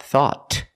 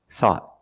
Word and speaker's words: thought: if anything we found thought at the end the tongue goes up and makes a stop T not thought but thought thought I thought you were